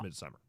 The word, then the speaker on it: Midsommar: I believe it's pronounced Midsummer. Midsommar.